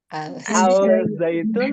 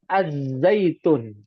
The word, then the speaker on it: Az-Zaitun: Al-Zaitun atau Az-Zaitun? Ayo. Az-Zaitun menurutnya. Tulisannya Al-Zaitun. Tulisannya al. Ya, ini juga kesalahan nih. Kesalahan bahasa. Yang betul huruf syamsiyah. Ya, Az-Zaitun. Wattini waz-zaitun. Az-Zaitun.